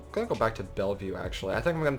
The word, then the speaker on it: Bellevue: Bellevue by the way that is how it's pronounced I looked it up it's not Bella vu or Bella of way it is Bellevue in Bellevue we are doing just fine we could probably